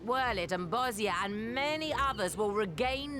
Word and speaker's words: Bosnia: I'm supposed to say Bosnia. What the fuck, chat? You usually jump at me when I pronounce things wrong. Bosnia. It's funny because she pronounced the Y. You guys say Bosja. Bosnia, everybody.